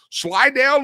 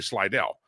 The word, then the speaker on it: Slidell: Slided, Louisiana. You got to say it like that, too. You just can't say Slidell. You say Slide, Louisiana.